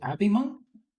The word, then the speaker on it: abhimonk: Um, and also, is it abhimonk? It's pronounced abhimonk, but you can just call me Abhi.